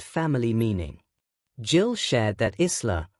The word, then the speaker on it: Isla: Jill shared that Isla, pronounced Isla, is a family name meaning devoted to God, while Marie is also a family name meaning wished for child and beloved.